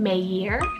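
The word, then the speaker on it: Meir: boy's name option so i have the name meijer spelled m-e-i-r or an anglicized pronunciation of this could be mayer spelled m-e-y-e-r this one means bringer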